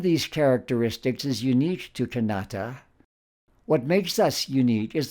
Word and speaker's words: Kanata: strident than the alonquin canata with its softer T and balance with the accent in the middle in the alonquin canata wasn't about a European